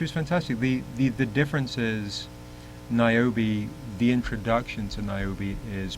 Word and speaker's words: Niobe: And it's pronounced Niobe, right? Yeah. Yes. So compare them.